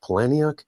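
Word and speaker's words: Palahniuk: Um I think it's actually pronounced Palani.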